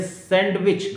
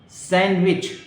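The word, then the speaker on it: sandwich: अगला है सैंडविच, लेकिन इसको डी नहीं बोला जाएगा, हम लोग बोलते हैं सैंडविच. गलत है. सैंडविच, डी ड्रॉप कर देंगे, डी नहीं बोलेंगे.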